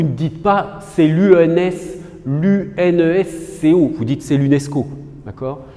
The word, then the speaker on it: UNESCO: dites pas c'est l'UNS l'unes Co vous dites c'est l'UNESCO d'accord donc là ça se prononce comme un mot alors que là pour